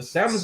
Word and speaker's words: salmon: The salmon's gonna be done. Salmon. What are you gonna? Salmon. You don't pronounce the L in salmon.